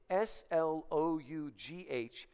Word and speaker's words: Slough: Now, shortly after they leave the city of destruction, they come to, now the proper pronunciation is the Slough of Despond, okay? S-L-O-U-G-H is pronounced slough when we're talking about a snake sloughing off its skin, right?